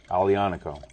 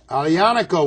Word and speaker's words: Aglianico: go huh and it's called the what grape alianaco alianaco with asylum g yes let's get a close-up